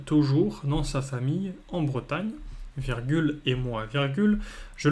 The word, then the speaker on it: Bretagne: a le e au début voilà donc la prononciation c'est Bretagne mais à cause de euh britanne qui j'ai déjà vu britagne j'ai déjà vu Bretagne avec eu u mais